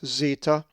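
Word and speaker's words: zeta: The 6th letter of the Greek alphabet is the upper and lowercase zeetah, which is always pronounced with the z sound as our English z.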